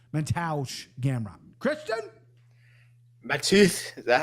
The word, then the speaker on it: Mateusz: So yeah, give me Mateusz Gamrot. Christian? Mateusz, is that how you say it? It's like yeah, Mateusz, that's another really good breakdown.